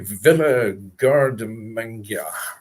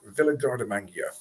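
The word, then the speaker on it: Villa Guardamangia: It is called, the pronunciation of it, Villa Gardamangia. Villa Gardamangia.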